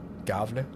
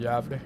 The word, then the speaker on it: Gävle: north of Gävle or Gavle or whatever. Like you guys don't have the A with the 2 dots above, but that would be pronounced Gävle in Swedish.